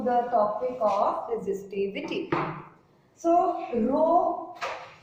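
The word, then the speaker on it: rho: topic of resistivity so row r h o it is pronounced as row row is = R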